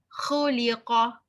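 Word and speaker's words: خُلِقَ: Khuliqa. It's not who. Khuliqa, khuliqa. Yakhruju, yakhruju.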